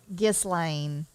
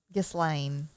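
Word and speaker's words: Ghislaine: first name is gosselin gislane geslane i think is how you say it maxwell i'm gonna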